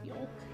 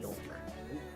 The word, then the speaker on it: yolk: You think the word yolk? Also, who says yolk? Yolk. You're saying like you're very hard pronouncing like the L. No, it's yolk.